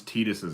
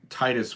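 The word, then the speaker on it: Tidus: in Final Fantasy 10 how do you pronounce titus's name I just told you how I pronounce it because it makes way more sense to say Titus given the the nature of the game and the box art is very oceany and very blue and there's a lot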